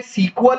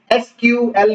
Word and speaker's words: SQL: एक होता है सीक्वल बेस्ड डेटाबेस और एक होता है नो सीक्वल बेस्ड डेटाबेस।